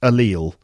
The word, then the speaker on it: allele: from genetic biolog from genetic biology and it's pronounced allele and i remember i remember this word coming